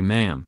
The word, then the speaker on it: ma'am: your majesty and subsequently ma'am pronounced like jam and then when you're